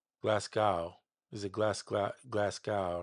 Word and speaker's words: Glasgow: It's probably all this MIDI that they just glass gold. Oh, okay. I've been I was saying it wrong. I'm glad you said that. Glasgow. Glasgow.